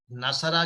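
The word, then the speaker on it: نصروا: जैसे हमने कहा नसरा की जमा है नसरू, अब नसरू में आखिर में अलिफ है, लेकिन इसको हम प्रोनाउंस नहीं करते, सिर्फ निशानी के तौर पे है, तो इस निशानी को भी अलिफ कहते हैं।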